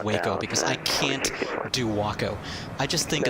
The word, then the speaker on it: Waco: is ridiculous yes so that's why i constantly mispronounce wacko as waco because i cannot do wacko but anyway uh from